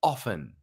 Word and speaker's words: often: teaching the word often it's pronounced often it's because the t is silent and I thought why